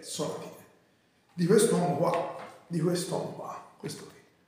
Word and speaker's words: Sonatine: Che penso si pronunci proprio Sonatine perché è giapponese e dovrebbe essere piana la parola.